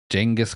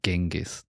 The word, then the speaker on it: Genghis: Genghis Khan, or as people mispronounce it and say Genghis.